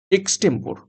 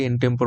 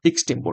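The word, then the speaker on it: extempore: উত্তর হবে option C এক্সটেম্পোর আমি একটু উচ্চারণটা ভুল করেছিলাম আগে ইনটেম্পোর বলেছিলাম তো যাই হোক এক্সটেম্পোর এক্সটেম্পোর মানে হচ্ছে কোন রকম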